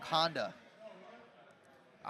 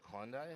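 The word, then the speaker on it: Hyundai: three chill chill name we got my young Honda I don't know why but I feel like he's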